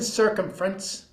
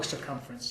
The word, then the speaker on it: circumference: 59 inches in circumference. Oh, circumference. Circumference. I mispronounced that. You put the emphasis on the wrong syllable.